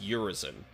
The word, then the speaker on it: Urizen: you're looking for which the way that V pronounce it is urisen so you got like